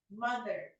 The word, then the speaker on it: mother: D or the? D, di ba? Try nyo po. Put your tongue in between your upper and lower teeth. Mother. Mother. Oh, di ba nakuha niya? Unlike kapag hindi mo... Mother. Kayo nga po. Don't mother me. Mother. Mother. Mother. Mother. Mother. Kayo po. Mother. Mother. Mother. It sounds like a D. It still sounds like a D. Mother. Mother. So open your mouth properly and say mother.